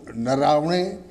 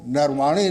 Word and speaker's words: नरवणे: पहले हैं जनरल मुकुंद नरवणे, जिनको नरवाणे लोग कह देते हैं, लेकिन नरवणे जो सही उच्चारण है वो नरवणे वो है, और वायुसेना अध्यक्ष भदौरिया जी।